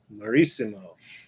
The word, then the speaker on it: Marissimo: And you have to say it like a hill of Italy. Marissimo.